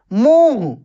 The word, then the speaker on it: मुंह: जैसे बोलता है दांत मुह मुह देखिए मुह ऐसे बोले मुह देखिए मुह मुह नहीं मुंह जांच कैसे जांच तो